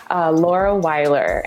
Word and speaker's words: Laura Weiler: Laura Weiler, and I am, and I'm an artist currently working in analog collage, living just outside of Portland, Oregon.